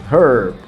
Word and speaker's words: herb: often help herb so in the american pronunciation you're gonna hear the r the rhodic sound herb while in british accents the r isn't pronounced heard privacy privacy privacy neither